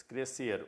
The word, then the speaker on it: crescer: Então são dois sons mas crescer eu pronuncio apenas em um som o SC aqui ou